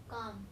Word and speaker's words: calm: That L in calf and calm are not pronounced.